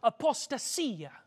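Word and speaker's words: ἀποστασία: When he talks about the falling away, the Greek word that's used there is a Greek word pronounced apostasia.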